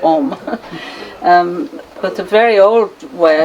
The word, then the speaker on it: Ogham: When it's spelled with O-G-H-A-M, the G and the H are silent, so it's like Om.